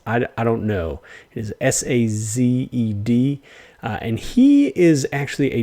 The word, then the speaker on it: Sazed: It is Sazed.